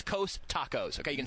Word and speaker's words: Costacos: COSTACOS. It's Coast Tacos.